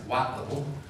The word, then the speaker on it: Whiteville: in court over that whiteville tennessee which they pronounced what level it's outside of memphis